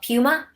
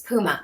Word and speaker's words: Puma: a British guy and the store Puma in England was called Puma oh unacceptable do not pronounce it like that it's Puma okay there's something about it